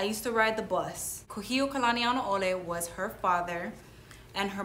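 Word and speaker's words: Kūhiō Kalanianaʻole: know what i used to ride the bus kuhio kalanianole was her father and her mother's name was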